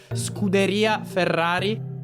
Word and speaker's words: Scuderia Ferrari: Your pronunciation is it's strongly American. It's more Scuderia Ferrari.